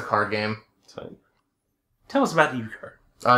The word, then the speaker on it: euchre: Factory oh yeah absolutely pry pronunciation oh it's uker oh is that a card game yes it's a card game tell us about ukar uh it's big in